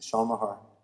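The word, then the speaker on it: Shawn Maher: come up pretty easily okay how do you spell it it's a Shan Mahar s h a w n m a h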